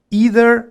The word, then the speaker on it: either: Either o either. Las dos pronunciaciones están correctas.